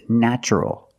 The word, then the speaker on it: natural: And the other word, natural, we see T-U-R plus a vowel, an A. Also in this pattern, the T is pronounced with the ch sound, so the word is natural.